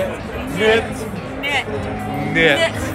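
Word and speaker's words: nicht: Knit. Knit. Knit. No, knit. Not knit. It's knit. N-I-C-H-T.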